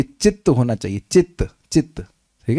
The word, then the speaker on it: चित्त: तो ये चित्त होना चाहिए। चित्त चित्त ठीक है? ध्यान दीजिएगा। ये चित्त है यहां पे स्पेलिंग मिस्टेक है।